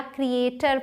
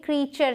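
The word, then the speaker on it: creature: है नेक्स्ट है क्रिएचर इसे बहुत सारे लोग क्रिएचर या क्रिएटर पढ़ने हैं लेकिन ये क्रिएचर है क्रिएचर मतलब प्राणी क्रिएचर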